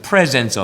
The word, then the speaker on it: presence: 여러분들 영어 단어로는 두 단어가 발음이 똑같죠. 발음이 presents, 그거는 선물들. 그 다음에 또 하나님의 임재하심은 presence of God, P-R-E-S-E-N-C-E.